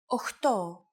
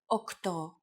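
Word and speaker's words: οκτώ: Sometimes, though, especially in casual conversation, Greeks also use efta instead of epta, ochto instead of okto, and enea instead of enea.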